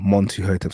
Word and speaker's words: Mentuhotep: It was Mentuhotep, or Montuhotep, some people have said it's pronounced.